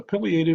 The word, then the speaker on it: pileated: There's several different woodpeckers that we might see at camp, but the biggest one is the pileated or pileated woodpecker, however you want to pronounce that.